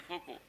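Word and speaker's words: Foucault: It was discovered by फोको। इसका spelling है थोड़ा टेढ़ा है, FOCAULT, या T साइलेंट है, L साइलेंट, फोको।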